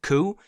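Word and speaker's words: Coué: Autosuggestion was actually created by a man that I want to say is pronounced Ku, and he has a book called Self-Mastery Through Conscious.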